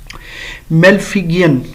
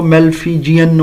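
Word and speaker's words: Malpighian: मेलफिगियन ट्युबोल होता है ये वर्ड यानी मेलफिगियन कुछ लोग इसको मेलफिजियन और इस तरह भी है। मेलफिजियन भी कह सकते हैं कुछ प्रोनाउंसिएशन वाले मेलफिगियन ट्यूब्स हैं।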